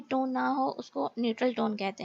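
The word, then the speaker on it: 你好: भी third tone है, so first syllable की जो थर्ड टोन होगी वो सेकंड टोन में कन्वर्ट हो जाएगी. जैसे कि आप यहाँ पे देखेंगे सेकंड टोन पे कन्वर्ट हो गई है. सो इसकी प्रोनाउंसिएशन जो होगी it's like knee how knee how.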